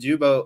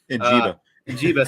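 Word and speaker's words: Njigba: And Jubo, or I know I butchered his name wrong there. Njiba, sorry.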